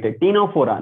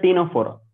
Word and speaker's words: Ctenophora: Ctenophora, not Ctenophora. It's just a Ctenophora. Okay. So silence, C are silence. I don't know why. Don't ask me why C is silent.